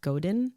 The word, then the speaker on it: Godin: is by and I might say the last name wrong it's Seth Godin correct okay yes if it scares you it